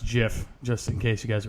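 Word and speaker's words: GIF: nice I don't know it's actually pronounced jiff just in case you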